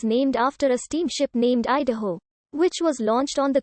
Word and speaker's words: Idaho: of three parts the first is e which in english conveys the idea of coming down the second is da which is the shoshong stem or root for both sun and mountain the third syllable how denotes the exclamation and stands for the same thing in shochong that the exclamation mark does in english the shoshone word is idaho and the indian thought